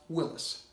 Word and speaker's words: Willys: that the word WI ll YS is indeed pronounced Willis starring Jack Kelly and Roger Moore by